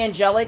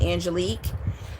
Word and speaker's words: Angelique: So, if people call me Angelic, I accept it, but it's really it's spelled Angelic, but it's pronounced Angelique.